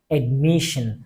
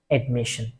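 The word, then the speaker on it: admission: থেকে যেকোনো একটি ভাওয়েল না থাকলে আমাদেরকে অবশ্যই উচ্চারণ করার সময় বলতে হবে সেন ঠিক কিভাবে আমরা সেজন্য বলেছিলাম এডমিশন দেখেন আপনারা এই যে এডমিশন এস আই ও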